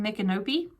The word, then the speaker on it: Micanopy: don't know is up in micanopy yes that's the way it's pronounced uh Nick and movie